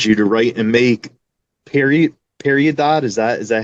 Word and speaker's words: Peridot: Certain people will call it Peridot, which is the correct pronunciation, but Okay. I heard a lot of people say Peridot, so I just kind of roll with it.